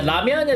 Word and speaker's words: ramyeon: Yeah, ramyeon is just a Korean way of pronouncing things.